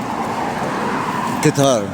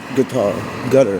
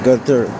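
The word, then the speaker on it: Qatar: Guitar. Remember, it's not it's not guitar. It's gutter or gutter.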